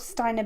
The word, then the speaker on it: Steiner: always thought steno stupid I thought Steiner because it looks like a German name in that so you'd pronounce and the author's not